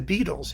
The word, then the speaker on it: Beatles: Think of what would have happened if the Beatles had insisted on having their name pronounced Beatles with their Liverpudlian accent.